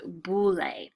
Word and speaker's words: boule: this B word here you pronounce this boule the boule they actually met more often